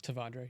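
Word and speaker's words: T'Vondre: Tavondre. Yeah. Devondre Sweat, yeah.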